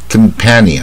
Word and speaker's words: companion: 他这个同伴是 companion，他是大卷舌啊，非常卷舌 companion，像蝴蝶音啊 companion。